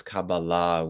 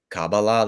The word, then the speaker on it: Kabbalah: I'll pronounce it as cabala with the stress on the final syllable but if anyone during the Q&A wants to say cabala that's totally fine I